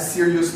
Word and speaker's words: serious: On va dire serious, on dit serious. Bon, qui dit O-U-S, pas prononcé comme ous, mais c'est S. On a dit serious.